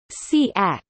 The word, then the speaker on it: CAAC: composition computer-aided algorithmic composition caac pronounced siak is the implementation and